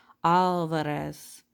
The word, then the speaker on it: Alvarez: our name to myself, opening my mouth wide for the organ blast of the ah, trilling my tongue for the drum roll of the R. Alvarez.